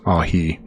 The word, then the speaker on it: Ai: So he's returning exactly where he was between Bethl and uh Ai which if you're wondering I'm saying that pronouncing it that way because phonetically in the Strongs it says Ai.